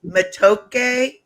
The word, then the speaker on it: matoke: Bananas of every variety are a staple of Ugandan food, and plantains are known as matoke.